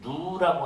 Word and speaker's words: gnu: 아프리카 탄자니아에 보면은 그런 게 누라고 하는 그 누라고 하는 동물이 있는데 이 영양 종류의 동물인데요. 원래 이름은 GNU 이렇게 돼 있어요. GNU. 그래서 G는 묵음에다가 누 이렇게 부르는데 원래 학명 이름 Wild Beast입니다.